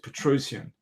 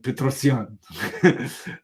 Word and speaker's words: Petrosian: game where Spassky defeated Petrosian, or as someone pulled me up on my pronunciation of Petrosian, Tigran Petrosian, for the authentic pronunciation.